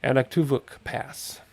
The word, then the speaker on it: Anaktuvuk Pass: Now we're going to fly due west, and we're going to go to Anaktuvuk Pass. Anaktuvuk. I put an extra syllable in there, didn't I, the first time? Anaktuvuk Pass. Something like that.